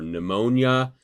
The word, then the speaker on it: pneumonia: so as in psychology or pneumonia the p is silent most of you probably